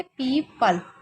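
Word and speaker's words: people: पीपल इसको क्या पढ़ेंगे पीपल तो पीपल क्योंकि लास्ट वाले एक साइलेंट रखा जाता है तो क्या हो गया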